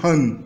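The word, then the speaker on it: 한: Então a gente vê que tem um símbolo que representa o H, um símbolo esmagado no lado que representa o A, fazendo a sílaba Ha, e o N está lá embaixo, Han. Então essa primeira parte é Han.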